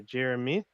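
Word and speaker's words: Jeremih: meek mill and singer jeremy i i guess it's pronounced jeremiah but everyone pronounced it jeremy i know why uh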